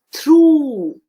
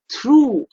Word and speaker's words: through: no no here o u g h has the sound of u so this is true the gh is completely silent it is true and it rhymes with the word two we went through five